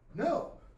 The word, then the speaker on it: know: You say I K-N-O-W, but it sounds like no.